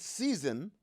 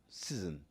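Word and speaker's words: SZN: The word season should be spelled S-Z-N. Season. Say it.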